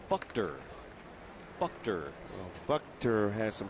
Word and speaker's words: Buchter: We are now told it's pronounced Buchter.